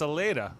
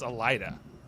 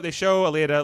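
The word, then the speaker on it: Aleida: And it's Aleda, which Margot pronounces Alida. I was like, "You don't even know how to pronounce her name?"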